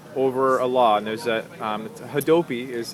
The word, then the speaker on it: Hadopi: now for years over a law, and there's Hadopi is how you say it, and it's both a law and a government agency.